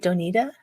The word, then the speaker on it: Doinita: Is it Doinita? Yes. The extra I makes me think I'm going to say it wrong.